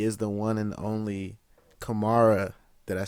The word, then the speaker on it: Kamaara: He is the one and only Kamaara.